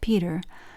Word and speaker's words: Petre: Related to the Stortons, Norfolks, Arundells, the Petre family, pronounced Peter, was highly esteemed by the Society of Jesus.